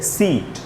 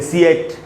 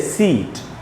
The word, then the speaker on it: seat: तो SEAT में ई का उच्चारण होगा, ए का उच्चारण तो नहीं हम करते, हम ये तो नहीं बोलते सीएट या सियाट या सियाट, हम बोलते हैं सीट।